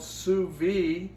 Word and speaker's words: sous vide: But it's called sous vide.